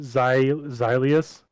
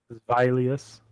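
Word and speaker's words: Zweilous: was like ah interesting we've been saying it wrong this whole time zileas um vileus oh it's vi because it's um two in german oh cancentino beat haunter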